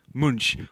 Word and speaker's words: Munch: to imperialism by removing monks the screams from its original framing and taking a shite all over it excuse me is pronounced munch we are beating the